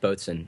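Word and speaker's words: boatswain: I don't know what a boat Swain is but it's pronounced bsen and it's sort of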